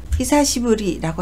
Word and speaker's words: 久しぶり: 시가 나올 때는 히사시라고 읽어서 오래되다, 오랜만이다 라는 형용사가 되고요. 히사시부리라고 하면 오래간만이라는 뜻입니다.